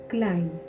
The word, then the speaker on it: climb: Silent ले रही हूँ, दूसरा नंबर बी साइलेंट है क्लाइम, क्लाइम, CLIMB, यहाँ पे बी लिख सकते हैं। मैंने जब भी हम बी साइलेंट लेटर्स करते हैं इंग्लिश में हम लिख सकते हैं लेकिन उसको प्रोनाउंस नहीं कर सकते, यानी कि क्लाइम, क्या हो गया, क्लाइम। उसके बाद CLIM, एम तक पढ़ना है, क्लाइम।